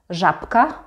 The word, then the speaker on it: żabka: And in the example żabka, żabka, here again the b is actually pronounced as p because it's next to k, and k is a voiceless consonant.